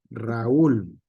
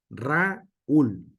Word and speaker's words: Raúl: En el sentido es Raúl, no es Raúl, ¿sale?